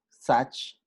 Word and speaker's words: such: So, such, en este caso la U va a sonar como A, such, to, la doble O suena como U, to, enough.